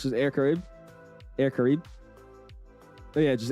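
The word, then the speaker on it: Air Caraïbes: You don't pronounce the es. Just air karib.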